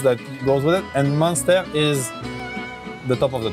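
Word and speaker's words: Muenster: What is monster cheese? Oh, okay. So How do you pronounce it? Munster.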